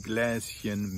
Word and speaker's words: Gläschen: But anything that ends with Chen, like Kätzchen, Hündchen, Gläschen, Mädchen, is pronounced with a soft CH, the sh, chen.